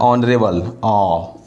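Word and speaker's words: honourable: तो एच यहाँ पे जब साइलेंट है तो एच तो यहाँ पे साइलेंट है, तो इसका उच्चारण क्या हो रहा है? हमको उच्चारण देखना है। ऑनरेबल तो अ से हो रहा है, यानी कि स्वर वर्ण, यानी कि इसके पहले क्या होगा? एन होगा।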